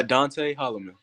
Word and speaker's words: Adonte Hollman: to mess anything up just in case uh dante holloman all right fine that was a lot easier